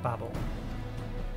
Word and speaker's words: Babel: next stop tower of babel babel babble baby have babel i think both is technically correct i don't think either one is objectively wrong i think there is a more common pronunciation of it between the two but i think they're both accepted um if any tempered